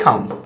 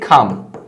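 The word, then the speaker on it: calm: Stay খাম, stay খাম, এটাকে আমরা খাম বলবো, এল এর উচ্চারণটা সাইলেন্ট থাকে।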